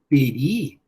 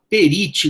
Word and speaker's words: perit: gente vai estudar, res peri indômino. Res peri indômino. A coisa perece, não fala perite não, hein? Ou então perite, tem gente que fala perite. Res peri, porque o T no final é mudo.